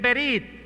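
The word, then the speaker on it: בְּרִית: Saben, amigos y hermanos, la palabra pacto en hebreo se escribe o se lee más bien berit en hebreo. Y el término berit en hebreo significa una alianza que se hace con sangre.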